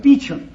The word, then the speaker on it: Beauchamp: It's pronounced Beecham.